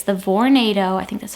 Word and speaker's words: Vornado: space heater it's the Vornado I think that's how you pronounce it it's like tornado but with a V uh whole room space